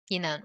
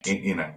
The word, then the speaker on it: Enan: And I want to keep making sure that I'm pronouncing the name right. Yinan? Yinan, right. Yinan, okay.